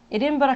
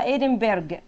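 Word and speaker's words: Edinburgh: ادنبرا كاسل. التي سايلنت وينفع تتنطق ادنبرج والجي اي والاتش سايلنت. تمام، ادنبرج او ادنبرا.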